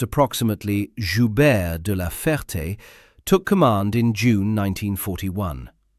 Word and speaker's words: Joubert de la Ferté: Air Chief Marshal Sir Philip Joubert de la Ferté, pronounced approximately Joubert de la Ferté, took command in June 1941.